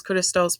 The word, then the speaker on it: Christos: so this is why you may see metime say Jesus Christos because that is correct pronunciation of that name now in Hebrew for